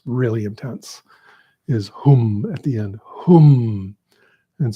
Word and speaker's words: Hum: So those two seed syllables are really important, and they are not the same sound. Like often when I'm listening, I'm hearing people say something like Om Mani Padme Om, and that's close, but it's Om Mani